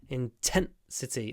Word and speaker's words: intensity: we increase the intensity intensity the is clipped before the unvoiced t t intensity intensity and